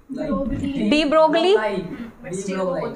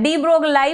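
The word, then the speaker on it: de Broglie: तो इसको तुम क्या पढ़ोगे? डी ब्रोगली, हाँ डी ब्रोगलाई पढ़ोगे, वरना डी ब्रोगली पढ़ लोगे, लेकिन ये डी ब्रोगी है, एल साइलेंट है इसमें, ठीक है।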